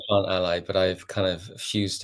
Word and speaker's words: Plantally: Andy Andy is from plant Aly or plant alley how do you say it it's I want to say plant Ally it should be plant Ally but I've kind of